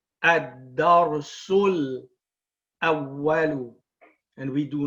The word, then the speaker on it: الدرس: That being said, you do not pronounce it when you join. You say ad-darsul, and you join the sin with the dhamma to the lam with sukoon.